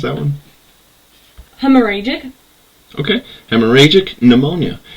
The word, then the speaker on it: hemorrhagic: that called hemorrhoid you want to try and pronounce that one hemorrhagic okay hemorrhagic pneumonia its victims were 450 ukrainians